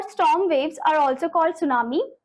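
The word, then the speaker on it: tsunami: इसे आप सुनामी करके नहीं प्रोनाउंस करोगे। इसमें टी साइलेंट है तो आप बोलोगे सुनामी।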